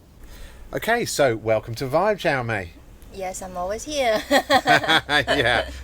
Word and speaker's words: Xiao Mei: One is the proper Chinese Mandarin way, which is Xiao Mei.